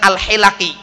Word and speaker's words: al-hilaki: Akhirnya ketemu dengan seorang syekh, dinasihatkan keliru bacanya, yang benar adalah al-hilaki.